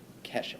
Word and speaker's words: Kesha: plays you know this her name is actually pronounced casha Kesha sorry it's kha thank you Adam for